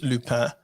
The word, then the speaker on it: Lupin: It's Lupin. For me. Lupin sounds like, like loopy. Like I'm looping.